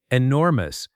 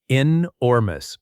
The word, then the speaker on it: enormous: Enormous. Pronunciation tip. Stress on the second part. Inormous.